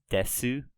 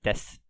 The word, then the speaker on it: です: kind of literally it's des Sioux guess ooh but I've been pronouncing it as just deaths and that's just a kind of an informal way of pronouncing that like syllable su so des you're sort of like